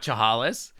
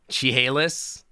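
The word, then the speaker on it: Chehalis: How do you pronounce Chahalis? Is it not Chahalis? Is it Chihalis? Chihalis.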